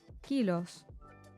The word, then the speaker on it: kilos: Kilos is the same as in English, except the pronunciation of the O changes to O. Kilos.